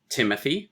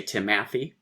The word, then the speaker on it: Timothy: We say Timothy. There we go. Stress, unstressed, stress. You don't say Timothy, which would be wrenching the stress of the words.